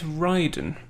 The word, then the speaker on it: Raiden: time researching this dude if we go with the japanese it's ryden in the games in